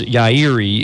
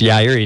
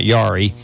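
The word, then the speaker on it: Yairi: endangered right and so this particular maker Alvarez yah Erie is how you pronounce it I learned about a month ago it's yeah re not yari he has the oldest collection of wood in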